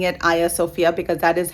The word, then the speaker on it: Hagia Sophia: sites and places uh the way the turkish people pronounce it so um that's why i am pronouncing it aya sofia because that is how